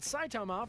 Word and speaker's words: Saitama: least temporary limits of his own power but saitama from one punch man is a to it's